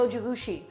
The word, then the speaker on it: Zojirushi: shorter amount of time uh this is a Zojirushi Zojirushi is that how you pronounce it yes it's a zoji rushi rice